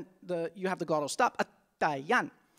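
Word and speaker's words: Atayal: have the glottal stop, Atayan. The L at the end of the word is pronounced like an N, or a mix of LN.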